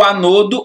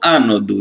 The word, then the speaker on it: ânodo: O negativo é o catodo ou cátodo, certo? E o positivo é o anodo ou ânodo. Isso aí, essa pronúncia aí, para mim não faz diferença nenhuma, não.